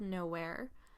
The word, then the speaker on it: Nowhere: non-professional correspondence or conversations, we should attempt to pronounce the town's name as Now Here, with a dash in the middle.